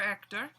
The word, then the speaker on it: Ector: ditch and quick sidenote sir Hector in this book is spelled with an e alright because in French H is silent usually Sir Ector that had great livelihood